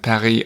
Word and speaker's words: Paris: English it's Leon yeah same with Paris and Perry I think we stick